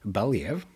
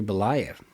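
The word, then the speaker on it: Belyaev: asked by her professor Dmitri Balev I think actually it's pronounced Dmitri Bolv. I have since uh after writing this many times I have then found an audio book uh uh and then got to listen to that name.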